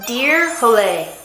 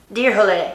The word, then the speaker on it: Dyrhólaey: Okay, it's pronounced Dyrhólaey. Dyrhólaey.